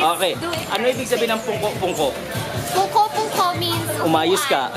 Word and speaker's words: pungko-pungko: Okay, pungko-pungko is... Oh, this is how you say it, pag-uupo ka lang. So, you squat, you sit down, just to eat.